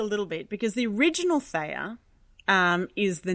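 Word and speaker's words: Theia: Some people might pronounce it Thea, but I pronounce it Thea.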